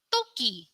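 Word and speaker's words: 토끼: Bacanya kori. Kori. Kori. Apakah kori itu? Kori itu artinya adalah ekor. Ekor. Kemudian toki.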